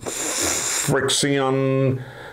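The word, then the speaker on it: FriXion: by pilot it's called Fri x io n friction maybe give it take a few pronunciations it has a special type of ink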